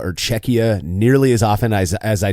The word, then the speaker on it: Czechia: the term Czechia or Czechia nearly as often as I do saying just Czech Republic, but without a doubt, when I have said Czechia, I've pronounced it with the ch instead of the k, so I won't be doing that anymore.